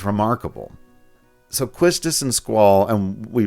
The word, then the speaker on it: Quistis: So Quistus and Squall and we pronounce her name Quistice by the way.